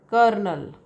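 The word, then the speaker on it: colonel: different for example uh this is kernel right no r is not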